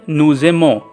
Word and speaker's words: nous aimons: Here is also it is written as nujemo, but kindly make it a j bit z. It will sound as nuzemo. You will speak as nuzemo.